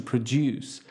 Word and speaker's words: produce: as the verb to produce however the pronunciation is different because the stressing is on the first not the second syllable produce is a noun